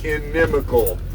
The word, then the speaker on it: Inimical: find uh on all the socials it is pronounced enemal enemal drive on all the socials Instagram Facebook